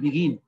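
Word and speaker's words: begin: Control, আমরা বলি কি অ্যাডমিট, আমরা বলি কি বিগিন, আমরা বলি কি কমিট। আমাদের উচ্চারণ দেখো, আমাদের উচ্চারণ প্লেন, আমরা ম্যাক্সিমাম সময়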